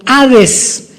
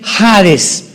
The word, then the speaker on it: Hades: la palabra Seol con Hades con h que muchos dicen jades se puede pronunciar así porque es en el griego y Cristo cuando él